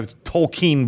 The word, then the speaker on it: Tolkien: showed up in a Tolkien book somewhere. You know, Lord of the Rings. Tolkien. It's not, it's What's his Tolkien. name? Tolkien. No, you Tolkien. don't say it like Ian. That's so weird.